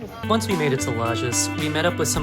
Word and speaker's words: Lages: to the next city, Les. So, I realized much later in the week that I was pronouncing the name of the city wrong. It's actually Lis.